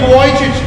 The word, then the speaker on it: Vujicic: Nick Vujicic, as I already told you, Nick Vujicic.